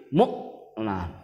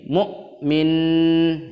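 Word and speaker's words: مؤمن: di kata Mukmin nah cara membaca Mukmin juga itu perlu diperhatikan yaitu huruf hamzah yang mati ditekan sedikit mukminah book Nah Enggak boleh woah harus ditekan book kemudian minus nya nggak boleh dong nggak boleh seperti ini mukmin itu salah tapi jelas Mukmin tab Kemudian diperhatian yang kedua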